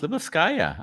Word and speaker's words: Lyubovskaya: Nicely pronounced, Lyubovskaya.